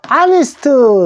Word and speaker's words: honest: 한 명의 소년인데, 요 honest, 정직한 소년 할 때는 honest를 정직한이라는 형용사가 요 사이에 쓰이죠. 요 사이. 어와 boy 사이에 쓰는데, honest 들어갔는데 왜 on을 써야 되느냐? honest. H가 묵음입니다.